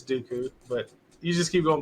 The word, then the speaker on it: Dooku: pronounce his name wrong I think it's Dooku but you just keep